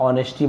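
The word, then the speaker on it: honesty: फिर इनविजिबल का आपको बताया था, उसके बाद ऑनेस्टी बताया था, एच को नहीं पढ़ना, ये सब चीज़, अल्टीमेटली, काउंटेबल।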